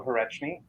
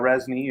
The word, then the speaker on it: Hreczny: Well, my name is Hreczny. That's how it's pronounced, or Resny if you're my brothers and sisters.